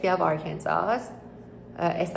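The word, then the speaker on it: Arkansas: واردش بشین دانشگاه بعدی یونیورس آر کنزا اس آخرش تلفظ نمیشه و وارد وب سایتشون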